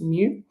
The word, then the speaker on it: mu: That's mu. you pronounce mu uh and that is